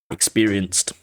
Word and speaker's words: experienced: Sometimes they're id, sometimes they're just a soft duh, and sometimes they're a t experienced.